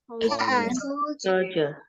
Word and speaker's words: soldier: Ini tuh bacanya pakai J, guys. Soldier.